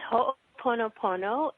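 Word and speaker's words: Ho'oponopono: uh for the next 60 minutes here it's ho ponop poono and our guest today is going to talk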